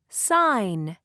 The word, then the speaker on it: sign: listen point and say sign sign do you hear G no night night do you